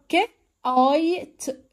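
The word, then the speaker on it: kite: طيب هنا طياره، ك، اي، ت، كايت، كايت، بصوا حرف الاي ما نطقناهوش لكن حرف الاي ظهر صوت واضح فاداني ساوند الاي، صوت اي.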